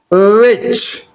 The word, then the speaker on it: which: WHICH, which, CH, which, and WH here, the W sound here to be pronounced. Okay, H silent, which.